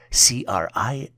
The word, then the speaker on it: crises: The plural version for crisis is spelled as CRISES and is pronounced as crises.